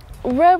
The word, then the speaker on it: we're: We're running out of time, because we are. Look at these clouds. We're running out of time.